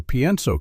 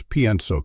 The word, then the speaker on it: pienso: Just like with creo que, after pienso que, you use the indicative mood because you're expressing what you believe to be true. Let's practice pienso que. Notice the pronunciation. Pienso, pienso. The IE sounds like yeah.